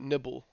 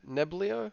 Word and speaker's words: Neblio: about yesterday with uh, I'm gonna call it Nibble because I don't know how the hell to pronounce this. Niblo, Nibble. I'm just I would say Neblio. Neblio. Okay, Neblio. That sounds better. Yeah, Neblio. like Nebula. Yeah. So Neblio, just like Neblio, HBAR has gone into business